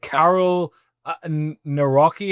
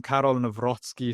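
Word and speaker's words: Karol Nawrocki: reelect the conservative candidate Carol Naki. Am I pronouncing that or have I horrendously butchered his name? Absolut absolutely butchered it. Um no they they elected um Carol Nozzky.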